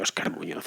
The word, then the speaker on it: Óscar Muñoz: En fin, yo, como podéis ver, pronuncio Óscar Muñoz a la perfección absoluta.